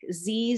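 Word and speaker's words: ze: Z, zir, zirs is how you pronounce that set of pronouns.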